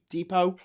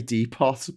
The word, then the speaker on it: Depot: Home home depot. Home Depot. Okay. I'm glad you don't say depot. No. I I kind of expect you to say deepot, but you don't.